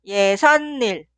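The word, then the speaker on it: 예삿일: Y suena 예산일, 예산일. En la pronunciación, la palabra anterior termina con la consonante final ni은. Y también la palabra posterior suena con la consonante inicial ni은. En este caso se agrega 사이시옷.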